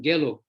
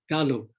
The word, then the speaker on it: Gelug: But then we have this term Gelug, which makes it even worse. It is not only pronounced incorrectly, but it's also spelt wrong. It should be Ga, not Ge, Galug, not Gelug, because Lama Tsongkhapa founded